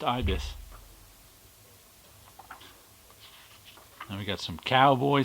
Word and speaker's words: Ibis: Ibis and even tells you the pronunciation there pronounced Ibis then we got some cowboy stuff spy Smasher